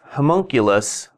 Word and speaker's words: homunculus: hire all right these are the new spells homunculus that's how you say it it's basically if